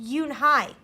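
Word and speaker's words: Unhei: Kim and then turned to Joey she nodded slowly yes it's pronounced eun-hye and it means grace mr.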